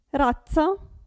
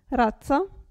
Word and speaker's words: razza: non si sente qui razza pensate a pizza razza qui g n se